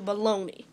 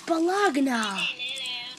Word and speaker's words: bologna: He's allergic to baloney. No, I'm not. How do you spell it? B-O-L-O-A-N. B-O-E. A baloney. No, you spelled it wrong. B-O-L-O-G-N-A. Baloney. That's balagna. You spell everything wrong.